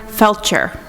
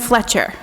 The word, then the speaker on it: Felcher: He takes pride in being religious, although he rarely attends church services and constantly mispronounces the name of his minister, Reverend Felcher. He calls him Reverend Fletcher, and when Edith inevitably corrects him, he dismisses the error with, "Whatever."